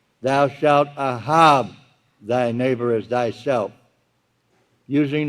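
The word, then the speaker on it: אהב: Pronounced A-H-A-B with low pronunciation, ahab.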